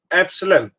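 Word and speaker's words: epsilon: इसको प्रोनाउंस करते हैं एप्सिलॉन।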